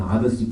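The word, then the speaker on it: Odyssey: 또 하나 이게 오디세이 프로그램이라고 있습니다. 뭐 영어로는 아더시 프로그램 그렇게 발음하는 건데 이거는 지금 여기 오신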